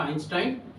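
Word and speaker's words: Einstein: বিখ্যাত ব্যক্তির নামের জন্য একটি হচ্ছে ই আই থাকলে তার উচ্চারণ হয় আই যথা আইনস্টাইন আর ইও থাকলে তার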